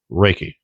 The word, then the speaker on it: Ruike: But as far as I know, it's pronounced Reiki.